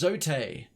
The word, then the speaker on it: Zote: Oh, it's pronounced Zote.